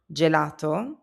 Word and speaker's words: gelato: G before e or i becomes a soft j sound like in gem. You already know the word gelato.